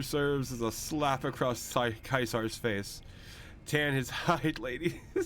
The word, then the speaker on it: Caesar: But yeah, Kaisar. Yeah, that's how you pronounce his name. Julius Caesar. It's proper Latin, bruv.